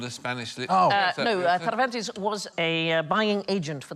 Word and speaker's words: Cervantes: No, Cervantes was a buying agent for the Spanish Armada. Very good pronunciation of Cervantes.